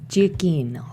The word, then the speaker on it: Giacchino: So, Sarah's favorite composer, Michael, how do you pronounce his last name? Giacchino.